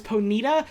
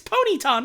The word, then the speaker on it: Ponyta: Tim- Stadium last night, the announcer saying Ponyta as Ponita. See, that one also feels fake as fuck, but I do hear it. I have heard that in like official Pokemon stuff, and that's fucked. It's fucked up. That's not allowed. It's Ponyta, not Ponita.